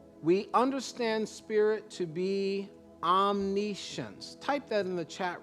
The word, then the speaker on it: omniscience: mind of spirit we understand spirit to be omniscience type that in the chat room and i'm going to spell it for you o m n i s